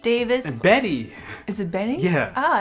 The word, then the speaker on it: Bette: And Beat Davis. And Betty.